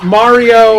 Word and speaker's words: Mario: Marathon, and Brian was like, no, it's Spin. Mario, like it rhymes with car, and it's like Mario Marathon, and then it's like, do you have that audio?